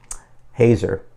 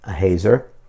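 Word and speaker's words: Haeser: was remarked by Ken I think it's pronounced um Hazer H A E S E R but this was a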